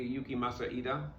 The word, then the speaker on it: Yukimasa Ida: And in the intervening time, I've had a call from the artist to pronounce his name correctly, Yukimasa Ida.